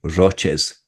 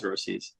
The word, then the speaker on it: Roces: Martina, rest in peace, would you say Roces? No, it's always Rosies. Right. Do they ever make fun of you for not saying it right?